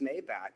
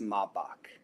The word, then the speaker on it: Maybach: So I was saying, hey, man, that's a nice Maybach. And he's like, it's pronounced Maybach.